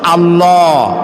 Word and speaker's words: আল্লাহ: আল্লাহ নয় কিন্তু আল্লাহ হচ্ছে অশুদ্ধ শুদ্ধ হচ্ছে আল্লাহ বলার সময় মুখটা গোল হয়ে যাবে বলেন তো সবাই উচ্চারণ করেন আল্লাহ আবার বলেন আল্লাহ আবার বলেন